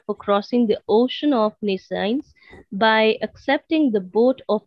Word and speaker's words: nescience: word said nescience?